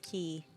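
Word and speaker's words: き: And for me, it's kind of like Killian, K-I, and I know it's pronounced Key, but I would still say like he's the pirate Killian.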